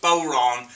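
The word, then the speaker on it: bodhrán: frame john the bowerana spelled b-o-d-h-r-a-n but pronounced boron the boron is usually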